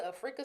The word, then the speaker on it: Afrika: Afrika Stewart was not the Africa, but Afrika. Afrika. Yeah, it's spelled like Africa, but pronounced Afrika.